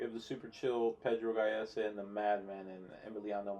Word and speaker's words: Gallese: How do you pronounce his name? It's Pedro Gallese. Gallese.